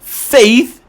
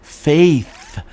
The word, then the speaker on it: faith: sibilant is really audible faith is pronounced with your tongue between your top row teeth and your bottom row teeth so you go Faith just go like that